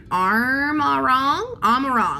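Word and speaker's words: Amaurot: We're in Amarong, that's how you pronounce it, Amarong.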